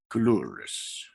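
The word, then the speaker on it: Coulouris: How do you pronounce his name? Coloris.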